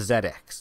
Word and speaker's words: ZX: British computer and and they say it's it's the Zed X that's how it's said over there and that's when they